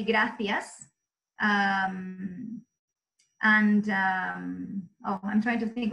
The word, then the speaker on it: gracias: and Spain is that in Spain the letter C and the letter Z or Zed are pronounced so it's a person from Spain would say gracias and I'm trying to